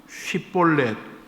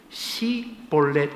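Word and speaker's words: 쉽볼렛: 쉬에서 볼렛, 쉬볼렛, SH 발음, 쉬볼렛. 이거는 시내, 강 이런 뜻입니다. 쉬볼렛 해보라 그랬어요. 그런데 에브라임 사람들은 그 자기들 사투리가 있어서 그 쉬, SH 발음을 못했나 봐요. 쉬볼렛 해보라 그러면 시, S, 시볼렛 이렇게 했다는 겁니다.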